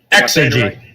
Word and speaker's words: Exergy: How do you pronounce that? Exergy. Yep, Exergy Exotic.